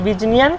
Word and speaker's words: বিজ্ঞান: কেমন আসছে বর্গের জ ইয় যেমন হচ্ছে, ওটা ছিল বিজ্ঞান, এটা বিজ্ঞানটা উচ্চারণ হবে বিজনিয়ান, এটা হচ্ছে জিয়ান, জিয়ান।